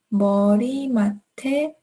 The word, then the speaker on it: 머리맡에: Now let's connect these words. 내 머리맡에. So there's going to be a T between these two words.